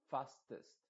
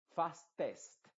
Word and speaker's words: fastest: rápido diría fastest fastest a pesar de que es una e tú ves escrita una e esa e se está pronunciando con una I modificada es decir se va a decir fastest no no puedes ser Clara no puedes decir tú Fast test test no porque la boca